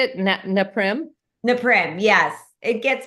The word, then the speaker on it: Naprim: Neprim. Neprim. Yes, it gets pronounced naprim.